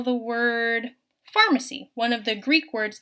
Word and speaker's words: pharmacy: greek word so then the f sound at the beginning will be represented with a ph the ph let's look at the syllables and let's spell each syllable one at a time so the syllables in pharmacy are farm c farm c so let's spell the